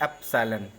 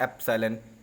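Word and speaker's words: ε: edit करते हैं अब एक सब होता है एप्स साइलेंट कौन सा शब्द है एप्स साइलेंट कहां से लिया गया यह रेगुलेटर है इसको लोग पढ़ते हैं ऐप साइलेंट इसका मतलब होता है बिलोंग्स टू इसका मतलब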